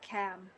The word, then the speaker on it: Cam: that right uh it's it's pronounced cam just ah cam okay all right sorry